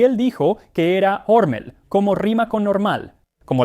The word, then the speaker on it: Hormel: La historia del jamón enlatado inicia con Hormel. O debería decir Hormel, porque aunque la compañía lo pronuncia Hormel ahora, al menos en sus comerciales, supongo que originalmente era Hormel.